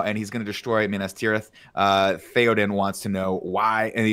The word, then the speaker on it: Minas Tirith: And he goes, Minas Tirith. Did I say it right, Andy? Minas Tirith.